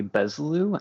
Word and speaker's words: Bezlu: Yeah, so the right way to pronounce that would actually be Bezlu, and the origin is a Polish phrase meaning to have no regrets.